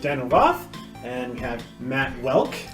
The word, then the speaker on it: Woelk: and we have Matt Welk hey everyone rhymes with elk thank you yes I